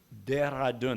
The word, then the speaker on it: Dehradun: student from, I'm going to pronounce it wrong, Dehradun? Dehradun. That's why I pronounced it wrong, because Tejal does it so much better.